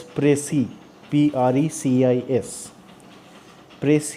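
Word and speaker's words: précis: the mark above e so this is pronounced as press e PR EC is press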